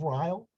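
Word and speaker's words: Reil: as the island of rile or as i like to say because it rhymes the isle of rile because it was first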